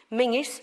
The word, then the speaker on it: Menzies: that didn't March the spellings Colleen Colleen Castle it's spelled colzin Mingus spelled Menzies cargonian which is a village near